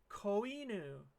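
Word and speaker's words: こいぬ: word it's puppy which means you say it coinu puppy last one how do you say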